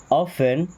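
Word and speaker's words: often: ऑफेन, T silent है, ऑफेन, ऑफेन का मतलब होता है अक्सर।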